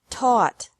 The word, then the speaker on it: taught: Taught. Taught. Think. Thought. Thought. Remember that the G is silent in these verbs.